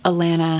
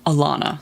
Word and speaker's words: Alanna: father figures okay so we've just got to elena having her period for the first time alana sorry i have always pronounced it atlanta also her name she's going